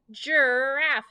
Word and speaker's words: giraffe: Good, a giraffe. J, giraffe, not G.